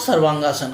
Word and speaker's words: सर्वांगासन: तो ये तीनों मिलके हमारे सर्वांगासन बनते हैं और इसका उच्चारण भी हम लोग सर्वांगासन करते हैं।